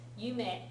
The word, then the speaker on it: 夢: はい。はい、いいですね。Be careful on the pronunciation. 夢 is famous. Yume is a dream.